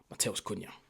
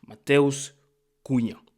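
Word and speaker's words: Matheus Cunha: Mattel Kuna. Mattel's Kuna. Tried to do my little Brazilian pronunciation there.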